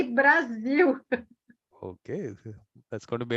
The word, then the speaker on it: Brasil: How should I pronounce it? Brazil. Brasil. Brazil. Okay. Brasil. Brazil. Brasil. That's a new one. Yes. That's a new Brasil. one. We say Brasil.